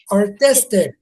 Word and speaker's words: artistic: Artistic. Artic. The second one. The second syllable.